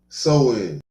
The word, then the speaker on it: Samhain: It's pronounced Samhain.